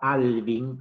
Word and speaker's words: Alvin: La otra corriente que voy a presentar ahora fue planteada también por un sociólogo estadounidense que se llamaba Alvin, así como suena, con B corta, Goulder, se escribe G-O-U-L-D, Goulder, que vivió entre 1920 y 1980.